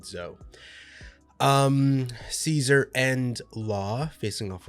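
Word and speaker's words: Zou: of the group to head over to Zhao or Zhou, Z-O-U. I believe they pronounced it Zhou.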